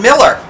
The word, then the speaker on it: Mueller: yeah Fran Annette Dorn we live in Miller and now we know how to pronounce it we're sitting on the